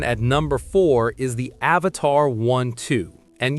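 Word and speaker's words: Avatr 12: Coming in at number four is the Avatar 12. And yes, you heard me right. is pronounced Avatar12. But the name isn't the weird part.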